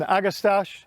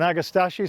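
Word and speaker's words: Agastache: beautiful orange plant is an agastash or an agastashi some people pronounce it from the Kudos series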